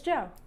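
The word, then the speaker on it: Djo: But as a matter of fact, the way you pronounce that band name is Joe.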